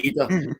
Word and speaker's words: Idah: He He has said that it's Idah. So, I'm going to go with his. Yeah. I'll go with Idah. He knows he's saying it better than any of us, right? So, we'll say Idah.